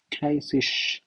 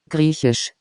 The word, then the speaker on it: Griechisch: Then Greenland would be Grisisch. I don't know, this is like a tongue twister, all these languages. Grisisch. Let's see how it is pronounced. Griechisch.